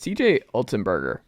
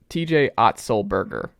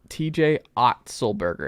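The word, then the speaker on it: T. J. Otzelberger: Year conversation, but it's CJ Ultenberger, right? Where my hot take, and I still will never pronounce his name correctly. TJ Otzelberger. TJ Otzelberger. It's something you got to say very slow.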